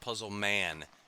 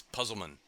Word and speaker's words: Puzzleman: is made that that he doesn't want to be called puzzl man it's puzzleman and if you one of the in the early on it say he says that so I even tried to pronounce it the way he wants anyway anyway uh in